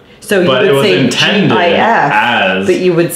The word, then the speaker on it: GIF: And it's GIF. It's pronounced with a hard G.